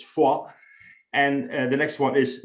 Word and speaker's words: Foy: on that m30 is for that's how you pronounce it ladies and gentlemen it's not foy erase that from your memory it's fall and the next one is novel which is